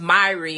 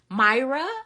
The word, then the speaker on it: Myrrie: you should know I'm my name is Miri and the way it's spelled people always Myra Michelle I'm like how did you get Michelle out of that